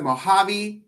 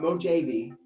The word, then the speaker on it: Mojave: Which state has the Mojave Desert? Not Mojave. Mojave. That's how you pronounce it.